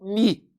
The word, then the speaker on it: me: Eu pronuncio o ME como mi.